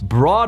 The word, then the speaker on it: brought: Pero estoy diciendo these challenges, estos desafíos, brought us closer together. Brought se escribe de forma rara, ignora la escritura.